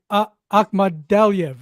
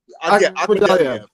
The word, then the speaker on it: Akhmadaliev: Let me pronounce for you, Corny. Akhmadaliev, right? Akhmadaliev.